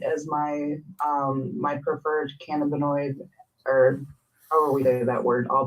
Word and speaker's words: cannabinoid: and that word is one of the hardest words to figure out which one is the correct way to say it cannabinoid can hemorrhoid um how about how about cannabinoid that's the way cannabinoid you like